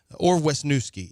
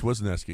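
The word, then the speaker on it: Wesneski: And Hayden Weski, I guess you're just going to have to Ornuski. It depends on how you pronounce his name. Well, it's Weski.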